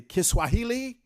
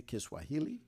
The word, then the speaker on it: Kiswahili: go by Donal quality kiswahili is not like that kahili is like Spanish what you see is what you say I don't care how you say it it still is the same you can say kiss Swahili or you can say kahili it's the same same but you can't do